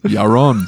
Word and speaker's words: Yaron: The accent was on the wrong syllable. It's Yaron.